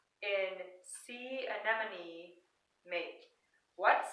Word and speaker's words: anemone: Anemone. So what does the last E in anemone, what sound does it make? It makes a long E sound.